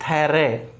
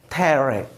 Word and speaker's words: thorough: देखो THOROUGH का pronunciation होता है थेरे। अब आप ये नहीं जानते तो कोई दिक्कत नहीं है, आप ऐसे समझ लीजिए थे पूरा ए और फिर रे और फिर ये आधा ए, तो प्रोनाउंसिएशन क्या हो गया? थेरे।